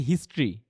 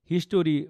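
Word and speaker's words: history: এটাকে অনেকে কিন্তু বলে মানে হিস্ট্রি। হিস্টরি বা হিস্টরি হিস্টরি টরি বলে কিন্তু এটা কিন্তু উচ্চারণ কি হয় জানেন হিস্ট্রি হিস্ট্রি দুইটা সিলেবাবলের ওয়ার্ড আর উচ্চারণ হবে কি হবে হিস্ট্রি হিস্ট্রি সিমিলারলি এটা কি হবে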